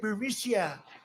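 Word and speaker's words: Burisma: executives so this uh buremicia bermucia they say pronounce it barisia a real beautiful company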